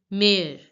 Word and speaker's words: mère: Mare, mare. Because of this accent, the pronunciation of this word mother becomes mare, mare, mare.